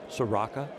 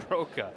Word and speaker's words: Soroka: Soraka. Give it to me. Give we the right pronunciation. Soroka.